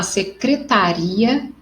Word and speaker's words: secretaria: que ela é acentuado e na segunda a intensidade se dá na sílaba aria ri secretaria então quando eu tipo